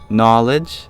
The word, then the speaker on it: knowledge: Knowledge has that silent K, but it used to be pronounced.